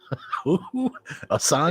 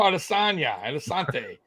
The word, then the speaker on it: Adesanya: Asante? Israel Adesanya. These names are so hard lately for me to pronounce.